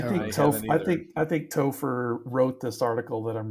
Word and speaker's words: Topher: names of 1978 was Topher Topher Topher yes how do you spell that t-o-p-h-e-r like gopher with a t oh my gosh David